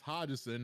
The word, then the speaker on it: Hodgson: And you could also follow me on Twitter at Hodgson, HODGESON. Yes, that's Hodgson, not whatever other mispronunciations that SSN be having.